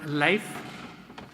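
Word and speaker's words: LAEF: Uh, I abbreviate it L A E F, pronounce it life, like the great Norwegian explorer, Leif Ericson, who was the first European to discover America.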